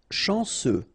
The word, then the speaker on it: chanceux: Chanceux. final X not pronounced, and then remember C, E, U will give you this se sound.